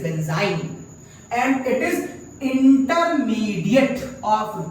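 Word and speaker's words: benzyne: जब आखिरी में डबल बॉन्ड आती है बेंजीन स्पेलिंग होती है, लेकिन यहां पर चूंकि ट्रिपल बॉन्ड आ चुकी है तो इसका नाम होता है बेंजाइन। इट इज नॉट बेंजीन, इट इज बेंजाइन, एंड इट is intermediate of this reaction.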